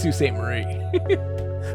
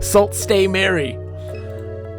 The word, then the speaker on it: Sault Ste. Marie: That's Sault Ste. Marie. Salt Stay Mary.